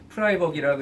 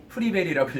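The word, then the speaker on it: Friberg: 그래서 찾아보니까 프라이버기라고 읽으면 안 되고 프리베리라고 읽어야 된다고 그러더라고요.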